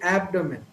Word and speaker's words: abdomen: you know this word abdomen so a native speaker tends to pronounce the right pronunciation of this word the stress is given to the first syllable so typically the right pronunciation would be abdomen but most of the